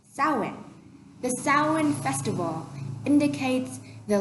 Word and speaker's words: Samhain: It's Samhain, but it's pronounced Samhain.